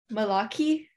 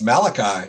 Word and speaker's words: Malachi: Malaki? Is that an Indian name? I think it's Malachi, right? Oh my God. Malachi Hicks. I'm dumb.